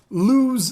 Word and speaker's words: Lewes: We're going to Lewes, Delaware, and I do not mean we're going to be kicking it out. There's a town called Lewes. It is spelled like Lowe's without an O. It's another E.